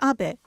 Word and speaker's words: Abe: House my name is Abbot but in the United States some people mistakenly pronounce my name is ape but that is not